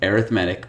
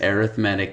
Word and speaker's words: arithmetic: arithmetic by the way this is arithmetic it's not arithmetic they're spelled the same but they're pronounced differently when we perform arithmetic we add subtract multiply and divide when we look at sequences they're arithmetic sequences too we have geometric sequences